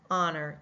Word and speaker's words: honor: We go right to the middle vowel sound and hear the Honor in that.